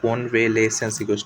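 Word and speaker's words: convalescence: Gradual recovery of health and strength after illness जो है कॉन्वेलेसेंस यहाँ पे ये LESS होगा लेसेंस। SC जो है यहाँ पे साइलेंट होके वहाँ पे सिर्फ एस को प्रोनाउंस करेंगे तो कॉन्वेलेसेंस यहाँ पे ग्रेजुअल रिकवरी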